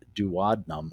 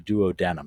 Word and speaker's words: duodenum: it's connected to the duodenum or the duodenum you can pronounce it either way which is the first